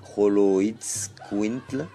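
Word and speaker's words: Xoloitzcuintli: Donc le nom Holoid Squintle vient du Nahuatl et Holoid Squintli, singulier, prononcé Holoid Squintli.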